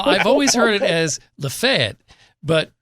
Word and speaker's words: Lafayette: Now, I've always heard it as Lafayette, but if you're from Lafayette, like many people do, they shorten it a bit. They kind of like you take a syllable or two out. So it's like Lafayette.